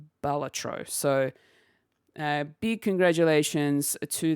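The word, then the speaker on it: Balatro: Uh I for whatever reason thought it was Batro or you know Bal was it yeah I think Baltatro was where I was sort of heading towards in the pronunciation but apparently that is incorrect and it is Baltatro.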